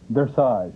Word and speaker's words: dressage: Pronounce it for me. Dressage.